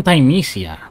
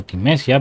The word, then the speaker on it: Thymesia: Bienvenidos otra vez al canal y continuamos con Thymesia, que así es como se pronuncia y no Thymesia, pero nosotros vamos a decir Thymesia.